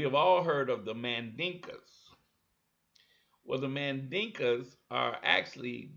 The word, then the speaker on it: Mandinka: Now the Mandinka, which the Europeans mispronounced and called them Mandingos.